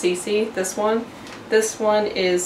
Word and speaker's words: CeCe: And I'm just gonna say that this is pronounced CeCe, this one.